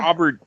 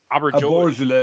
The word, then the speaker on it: Auberjonois: Auberjonois. Aborigine, I think that's how you pronounce it. Auberginois, or yeah.